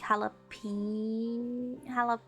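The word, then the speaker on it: jalapeño: J pronounced like a H, like jalapeno.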